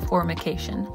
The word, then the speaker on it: formication: But if you do, don't mess up the pronunciation of the word formication, which is the sensation of bugs crawling on the body. If you mistake the M for an N in that first syllable, you'll have a lot of explaining to do.